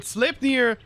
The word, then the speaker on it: Sleipnir: So, I thank you guys for commenting all below what we should name it, but Sleipnir, that's the best way I can pronounce it, is apparently Odin's horse.